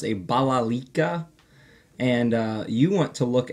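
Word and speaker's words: balalaika: So here we have a stringed instrument pronounced a balalika, and you want to look at these as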